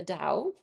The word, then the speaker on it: Dao: this is from the Dao sometimes pronounced with a A D sound instead of the T 365 da so the